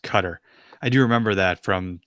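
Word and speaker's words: Qatar: though Lord Drago says wants to tell us that guitars actually pronounced cutter I do remember that from the when we first invaded Iraq Tom Brokaw would say gutter in his who got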